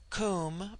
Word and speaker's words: Kum: immortal Spirit viya immortality Kum pronounced like the Welsh Kum denotes something of holess